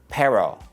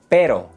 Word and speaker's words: pero: The secret is not to think of the English R. No es pero. Pero. Pero. The tongue taps the roof of your mouth. Pero. Toro. Cara. So instead of thinking of the English R, think of the double T sound like in butter.